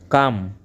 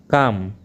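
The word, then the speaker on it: comb: L silent words. हथेली palm. Palm. शांति काम। काम।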